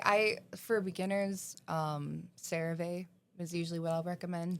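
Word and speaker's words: CeraVe: I for beginners um cereave is usually what I'll recommend. They pronounce caravee. I think it can go either way. I used to say Sarah but then I got corrected. Can I say Saravi?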